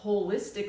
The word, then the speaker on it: holistic: whole so I love holistic medicine and you could spell it like whole h o l e istic medicine because